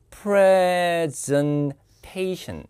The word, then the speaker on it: presentation: 자, 발표가 뭐에 관한 건지 발음이 presentation. 항상 Ation이라는 단어로 끝나면 뒤에 액센트 있습니다. 모든 단어 전미어가 Ation으로 끝나면 거기에 제1강세가 있습니다. 자, 당신의 발표는 뭐에 관한 겁니까?